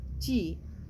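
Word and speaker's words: 氣: There are 12 main acupuncture meridians, also known as channels, that carry energy, acu, chi, it is pronounced as chi, and blood to provide nourishment throughout the body.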